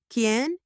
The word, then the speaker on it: quién: For who in Spanish, we use ken.